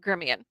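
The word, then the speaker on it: Gremillion: pronounce it but it's spelled gremlin but it's pronounced gremion so john i got it right this time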